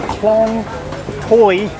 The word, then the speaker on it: Khlong Toei: get down to the klong toy market it's spelt toei t-o-e-i but it's the main market